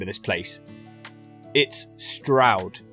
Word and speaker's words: Stroud: name of this place it's Stroud it rhymes with loud or proud which the locals in this place are certainly not it's not strewed I don't mean to